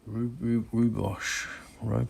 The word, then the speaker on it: rooibos: Then also try rooibos tea.